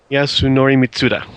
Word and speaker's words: Yasunori Mitsuda: I'm going to switch to Yasunori Mitsuda. Yasunori Mitsuda.